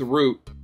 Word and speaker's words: route: Route. I think most of the time I just go with root, but it's spelled R-O-U-T-E.